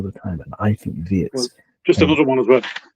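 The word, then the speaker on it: Wirtz: something that I think Florian Vertz or Viet, it depends which German you ask. Florian Viet pronounces it Viet. So I'm going to go with that.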